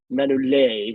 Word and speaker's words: Manolete: It's not Manolete. It's Manolete, we should say. Phil's point that out. Manolete.